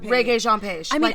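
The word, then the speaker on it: Regé-Jean Page: Rea Jean Page. Re like the music.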